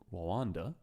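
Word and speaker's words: Rwanda: 2007 the government of Randa I think you not meant to pronounce the r too hard so I'm just kind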